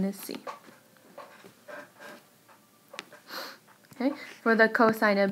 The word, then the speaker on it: cos: it with just cos so it's not coast of a or cosa vs you say cosine we just abbreviated with